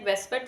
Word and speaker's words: VSEPR: अच्छा, we pronounce it more like वेस्पर theory, but इट्स not actually वेस्पर, इट्स VSEPR, but generally जो है इसको वेस्पर के नाम से ही प्रोनाउंस किया जाता है।